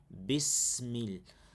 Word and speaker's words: بسم الله الرحمن الرحيم: We have kasra on the ba. Bismil. We have sukoon on the sin. So we try to pronounce it as much as possible in that aligns with the articulation points from our system. So when you say bismi, not bismi, bismillahi ar-rahman ar-rahim, the fatha is clear, sharp.